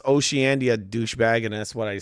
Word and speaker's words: Oceania: It's pronounced Oceania, douchebag. And that's what I said. It's called Zandia. No, what? It's pronounced Oceania. That's how it's pronounced.